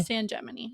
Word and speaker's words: San Gemini: San Gemini.